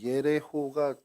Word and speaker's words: 예레호: 이 여리고가 뭐 오늘날에는 제리코라고 또는 예리코라고 이렇게 불리기도 하는데 히브리어 발음으로는 예레호가 정확한 발음입니다. 여리고가 예레호인데 뜻은요, 달의 도시.